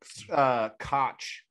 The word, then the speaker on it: Koch: Yes, yeah, it's pronounced Koch.